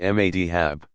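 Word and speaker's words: madhhab: of the legal methodologies met Habs pronounced ma d hab and eventually receive credentials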